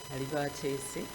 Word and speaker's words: Alibatese: Alibatese comes from a proverb, so it's a very difficult name for people to pronounce. I'm Uganda, and Alibatese is Alibatese Aliwangula, meaning the person who is calm, like the sea, will win. Alibatese Aliwangula. So when you know the meaning of the name, it makes it much easier for you to pronounce it.